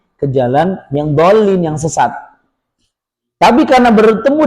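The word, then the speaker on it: الضالين: magdubi alaihim wadin Ah, di lam ditekan dulu. Ingat tasydid jadi lamnya jadi kuat. Dol. Jadi gini dolin. Jadi bunyi linnya setelah ditekan el lin. El lin gitu dulu ya.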